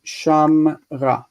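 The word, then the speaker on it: שָׁמְרָה: The more interesting problem with accentuation is the feminine shmara or shamra. If we think about the next set of things that we're going to look at are more difficult. Where's the ink? Oh, heck. Delete. So the word shamra, she kept or she has kept, we know it as shamra with method, shamra.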